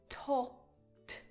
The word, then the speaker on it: talked: The pronunciation of that ed is just a T sound added to the end of the verb. Talked, talked, talked.